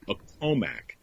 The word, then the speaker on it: Accomack: Accomack. Right. That's the way I would have pronounced it.